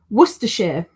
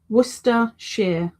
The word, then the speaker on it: Worcester: You don't say it like completely wrong. You just say it too poshly.